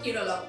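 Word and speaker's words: കേരളം: সরকারি ভাষা মালয়েলাম এবং সেই ভাষায় রাজ্যের নাম উচ্চারণ হয় কেরলম এবার এই প্রস্তাব নিয়ে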